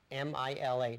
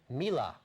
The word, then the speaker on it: Mila: Her name is Mila, M-I-L-A, not pronounced Mila. Mila.